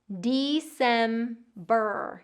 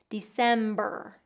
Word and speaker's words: December: Getting that long E, December, and that long R, and that vocalic R at the end, December. All right, I want to know which month is the most difficult for you to pronounce.